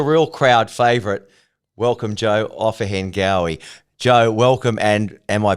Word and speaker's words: Ofahengaue: Ofahengaue. Ofahengaue. You got to kind of let it roll off your tongue.